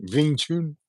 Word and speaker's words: Wing Chun: to say yeah wingun wiing Chun like to pronounce it with a V aun uh and then us more American types like to say Wing Chun there you go but